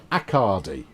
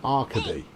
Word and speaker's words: Arcady: your name is pronounced like Bacardi. In which case your R's in the wrong place. It should be Accardi, see, rather than Arcady.